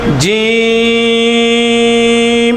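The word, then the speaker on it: جيم: এখানে বরিকার দীর্ঘিকার মীম এটা আপনি জিম বললে হবে না বলতে হবে কি জিম জিম এটা এক আলিফ টান হবে জিম এবং শক্ত হবে আগে আমাদের আলিফ বাতাগুলো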